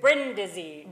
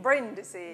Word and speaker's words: Brindisi: Brindisi. Brindisi.